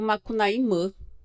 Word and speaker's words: Macunaíma: Deus indígena macunaima que a gente chama de macunaima mas que os os os x eles também pronunciam makuna imã eh então Eh o